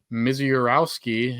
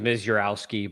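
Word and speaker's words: Misiorowski: think you're pretty good I think it's just m jurowski but like you say it faster yeah know you just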